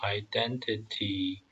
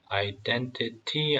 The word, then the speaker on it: identity: These were the descendants of Shem, identified by clan, language, territory, and national identity. Identity 아니면 identity.